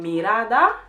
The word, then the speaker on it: mirá: Instead of saying mirada, which is gaze, mirada, she says mira, because that's they cut the endings of the words out. So it's just mira instead of mirada, okay?